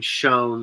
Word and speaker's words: Schoen: gonna be tough like just the like justifying Shan or Shane I forget how you pronounce his name the GM being retain Shane thank you it'll if the Eagles win the